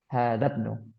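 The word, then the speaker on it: هٰذَا ابْنُ: Nah, namun ketika dia diawali dengan sesuatu baik itu kata ataupun huruf, maka hamzatul wasalnya dianggap tidak ada atau hilang. Maka cara bacanya hadzabnu.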